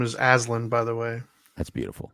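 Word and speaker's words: Alyn: what's new yeah well my granddaughter's name is alen by the way that's beautiful I had to look it up because the spelling is like weird it's like hard to pronounce but it's alen it's a l y n something I had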